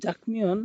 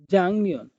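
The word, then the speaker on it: 작년: এখানে একটা বাচ্চিমের রুলস আছে, এটা জাকনিয়ন লেখা আছে কিন্তু এটা পড়তে হবে জাংনিয়ন। কেননা আমরা জানি যে বাচ্চিম গিউকের পরে যদি নিয়ন থাকে তাহলে গিউকটা ইয়ং হিসেবে উচ্চারণ করতে হবে।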